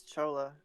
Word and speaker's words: Chola: the only civ I'm going to have trouble pronouncing. Yeah, it's Chola.